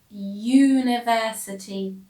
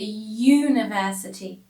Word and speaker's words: university: example is the word university i don't say aniversity it is a university the first letter u is a vowel but i don't pronounce the vowel as a vowel it sounds like a